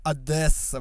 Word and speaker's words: Одесса: Город называется Одесса и произносится через «е», и они бесятся, когда кто-то говорит «Одесса», блядь.